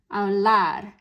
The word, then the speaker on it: hablar: And so it ends in an R, so that's a consonant that's not N or S. So that means this time that spoken stress is on the last part of the word, hablar.